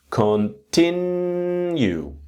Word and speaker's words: continue: And now with the pronunciation, if you got three syllables, continue. The second syllable is a strong one.